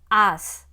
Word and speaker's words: as: For instance, after teaching has, you can explain his, is, as. They all follow the same pattern of being spelled with an S at the end but pronounced with a Z sound.